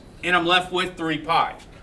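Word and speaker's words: π: but I'm talking about pie see this symbol right here this symbol right here that's spelled p i pi we call it Pi but over there they call it P well it just has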